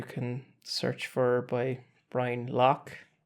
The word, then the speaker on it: Lough: So the main place would be my YouTube channel, which you can search for by Brian Lough. Lough is Lough. Yeah, like it's pronounced.